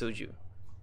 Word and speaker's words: soju: It's, it rhymes with, like Harvin said, it rhymes with kroju. It's soju.